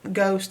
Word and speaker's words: ghost: But in this case, the O would go to the left and make its long O sound go O, because it's not closed in by anything. So ghost is pronounced G-O-st.